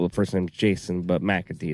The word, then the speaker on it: McAtee: If you like that and you thought, man, this guy's got a good voice, his name is spelled, first name's Jason, but McAtee.